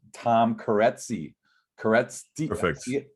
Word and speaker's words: Kereszti: Kereszti. Perfect. How do you say it? It's better off if you say it. Kereszti. Kereszti. Gosh, it looks like I shouldn't even, there's a Z in there.